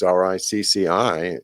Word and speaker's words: Ricci: And Ritchie is pronounced the same way as Ricci to us Americans.